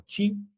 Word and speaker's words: qi: energía y principio, eh energía como chi, eh, que se que se escribe en pingin, qi o principio li h